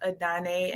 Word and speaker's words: Adanne: Adane, I believe, right? Yes, you said it perfectly. It is pronounced Adane, and we are located in Brooklyn, the Dumbo part of Brooklyn at 234 Water Street.